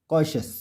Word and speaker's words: cautious: तो रूल है टी के बाद अगर IA, IE, IO दिखे तो टी का उच्चारण शॉ होता है। उदाहरण से समझते हैं। PARTIAL partial, MARTIAL martial, PATIENT patient, SENTIENT सेशेंट, CAUTIOUS कॉशस, NUTRITIOUS न्यूट्रिशियस।